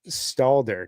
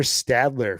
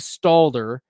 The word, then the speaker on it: Stalder: buddy Bradley at FF Stalder. So, I I thought you were Stadler for a really long time, and I apologize. I was I was pronouncing your name Stadler and I was dropping your name in the chat ster everywhere.